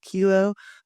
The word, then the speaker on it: Hilo: then going into your 2 years at Hawaii Hilo, I think it's pronounced.